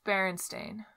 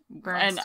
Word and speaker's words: Berenstain: I never know how to say it. It's Berenstain. That's, like, the real way. Yeah. But what do people think it is? Berenstain. Bernstein.